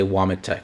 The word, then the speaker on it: Womet: Witch, which is actually vomit because the W in Poland is actually pronounced as a V. So, actually they're vomit and but in America it's W. So, we'll say Vameit.